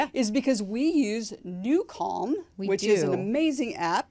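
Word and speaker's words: NuCalm: tailed as they say is because we use newon which is an amazing app it's spelled n u c a l m it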